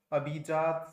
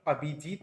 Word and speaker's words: अभिजात: तो एनएमसी के नए अध्यक्ष बने हैं डॉक्टर अभिजात सेठ। यह मत सोचिएगा कि मैं गलत पढ़ा रहा हूं। अभिजीत नहीं है दोस्तों अभिजात ही है जो कि बिल्कुल ठीक प्रोनाउंसिएशन है।